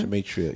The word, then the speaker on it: Gematria: Gematria.